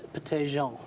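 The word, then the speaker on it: Pettijohn: French pronunciation. It's Petty-Jean.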